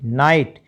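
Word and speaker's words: knight: एस टी माइट और के एन आई जी एस टी नाइट यहां पर दो लेटर साइलेंट हो गए कौन-कौन से के भी तो साइलेंट है जी एच इकट्ठा ये भी तो साइलेंट है तो क्या बचा नाइट एन आई टी नाइट बचा टी एच ओ यू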